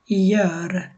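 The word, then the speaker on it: gör: রকম উচ্চারণ করে না, জিটাকে অনেকটা ইর মতো উচ্চারণ করা হয়। যেমন ইয়ার হবে ইয়ার, মানে এটা গোর হবে না।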